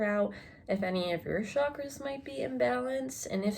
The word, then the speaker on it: chakra: is working with your chakras if you don't know what they're i should be saying it like chakra that's actually how you pronounce it but your chakras are